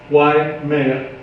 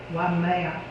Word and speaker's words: Waimea: Waimea. Waimea. Mhm. So Do I know how to spell that?